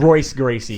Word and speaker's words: Gracie: And Royce Gracie, pronounced with the R.